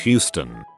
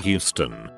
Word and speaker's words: Houston: from tourists or locals it's pronounced Houston not Houston please stay on the